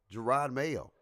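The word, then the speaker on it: Jerod Mayo: I don't know what team, but they did get a successor, Gerard Mayo. I said it right. I pronounced that You thing did.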